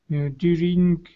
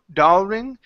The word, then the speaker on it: during: day to come over during daring party. Okay. All right. Yeah, that's party. Good. All right. Let's go to this word here. Instead of dar daring, it's dur during.